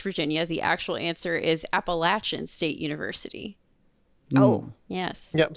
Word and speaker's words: Appalachian: The actual answer is Appalachian State University.